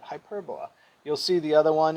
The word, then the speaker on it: hyperbola: is called a hyperbola we spell it hyperbola we say it hyperbola you'll see the other